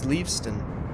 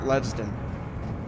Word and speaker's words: Leaveston: It's Leaveston, not Levston.